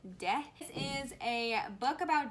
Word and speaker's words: Te: In the book, it is pronounced De, so I'm gonna pronounce it De.